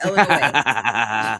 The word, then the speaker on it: Illinois: __ ] Banning you it is Illinois it is the S is silent I don't I my my only thing is I pronounce it a little bit less like l and a little bit more like ill but uh yeah no the s is non-negotiable yeah it dep it